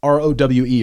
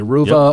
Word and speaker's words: Rowe: It's R-O-W-E, Ruva or Rowe. I'll just pronounce it Rowe.